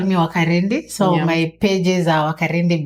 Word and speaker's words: Wakarindi: Pronunciation Wakarindi. It's the same way you can say Wambui. Yes. It's just say Wambui. Wambui. So you say Wakarindi.